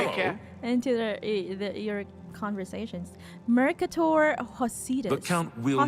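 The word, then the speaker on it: Mercator Hosidus: Okay, I pronounced his name wrong, entirely wrong. Mercator Hosidas, there we go.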